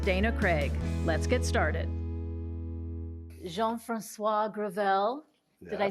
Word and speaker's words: Jean-Francois Gravel: I'm your host Dana Craig let's get started Jean Francois grel did I say that okay you said very